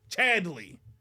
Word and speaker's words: Chadley: the CH uh Chand Chand is it chandley chandley Chadley Chadley is how you say it it's stupid name I